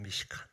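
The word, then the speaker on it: מִשְׁכָּן: 근데 이 단어가 히브리어로 보면요, 참 신기하게도 성막이라는 단어가 미시칸이라고 하거든요. 히브리어로 미시칸. 근데 이 국고성이라는 단어가 철자만 좀 다르지 발음은 똑같습니다.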